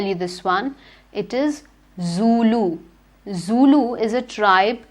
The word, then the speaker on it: Zulu: africa i'll tell you this one it is zulu zulu is a tribe it's the name of